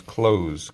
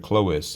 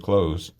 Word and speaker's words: Clowes: the guy's name was Close, Clowes. So his name was not Mr. Clois, it was Mr. Close.